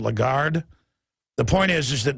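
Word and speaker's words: Lagarde: you pronounce her name I always say lron but it's a legard the point is is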